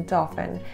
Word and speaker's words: Dauphin: So they rightly renamed the island to Dauphin, which not only rhymes with dolphin, it means dolphin in French after Louis XIV's descendant.